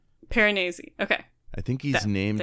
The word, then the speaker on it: Piranesi: I've got the ebook and the audiobook, and the way the narrator says it is Piranesi. Piranesi.